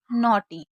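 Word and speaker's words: neigh: इसको ने, क्योंकि ई आई को ए पढ़ा जाता है।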